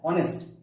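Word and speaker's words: honest: এই যে এইচ এর সাউন্ডটা আসছে না, সরাসরি ভাওয়েল সাউন্ড চলে আসছে, এইচ এর সাউন্ড যে হ সেটা আসছে না, কি আসছে? অনেস্ট।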